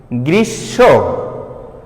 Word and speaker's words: গ্রীষ্ম: এখানে আমার মফলার উচ্চারণ কিন্তু হয়নি, হয়েছে কি? গ্রীষ্ম, স কিন্তু দুইবার উচ্চারিত হয়েছে, গ্রীষ্ম।